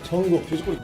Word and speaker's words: 정국: 정국. 자, 정국 야유. 정국 야유. And he's saying it. Well, it's not Cook, it's G-U-G. That's how it sounds to me.